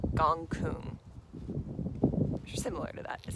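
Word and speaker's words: Gonggong: planet called gong gong gong gong is how it's spelled but it's gong Kung similar to that is how you pronounce it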